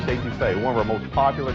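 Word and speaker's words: étouffée: I want some estouffee crawdads. What Bubba's trying to say is crawfish etouffee, one of our most popular Cajun dishes.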